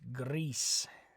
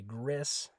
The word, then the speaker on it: gris: you say gray good remember it's Greece so remember that the I in Spanish always makes an e sound Greece so you're not gonna say Gris it's Greece Greece okay our next question